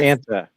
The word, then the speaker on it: Fanta: F Fanta. like Frank, Anta, like Santa, but with an F.